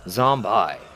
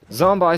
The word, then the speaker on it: Zombi: the end is gone so it reads zombie I and since I'm a